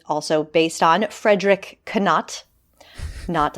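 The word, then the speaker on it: Knott: based on Frederick canat not I know it's I I always like to pronounce I think I think the second T is silent indeed so yeah and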